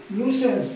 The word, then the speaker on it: nuisance: ডব্লিউবিপি কেপিতে দেখো, প্রথমটা দিয়েছে নিউসেন্স বা নুসেন্স, উচ্চারণটা হচ্ছে নুসেন্স।